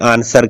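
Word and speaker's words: answer: का उच्चारण नहीं हुआ यह देखिएगा आंसर डब्लू का उच्चारण नहीं होता आंसर तो नहीं कहते क्या कहते हैं आंसर कहते हैं यह देखिएगा सर्ड तो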